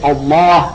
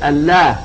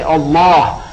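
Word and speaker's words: الله: it's an emphatic name you say Allah and you don't say Allah which normally that's the way the Arabs would pronounce a word with the lamb but here they say Allah and that is in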